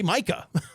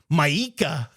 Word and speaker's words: Micah: The pronunciation of his name is how it's spelled. Like that's how you say Micah. He he kind of made it sound like Mika.